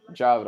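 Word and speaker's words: Javid: second third round clearly Javed basharat Javed Javed I'm sorry it sounds awful but that's actually the proper way to pronounce it I'm sorry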